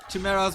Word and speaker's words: Chimera: But yeah, the Chimeras were a big mistake. But shouldn't cost him the game. They're still around 100. Same on the other side though. It is pronounced Chimera.